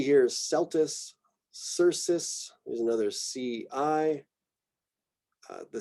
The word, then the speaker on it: Celtis: So C before E tends to be a soft C, makes more of an S sound.